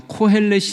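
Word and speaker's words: קֹהֶלֶת: 빠져 들어간다 그래서 전도자 라고 번역을 했는데 원어로 발음을 하면 코헬렛 일하는 사람이 등장해 코헬렛 2 코 ls 너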